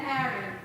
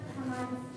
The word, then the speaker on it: Haman: Queen Vashti and Harry.